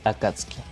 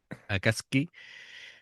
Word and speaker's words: Akatsuki: Bueno, me ha llamado la atención la forma de pronunciarlo, lo de Akat Akatsek. Akatski sin pronunciar la U. Vale, de acuerdo. Venga, pues será la pronunciación correcta, digo yo.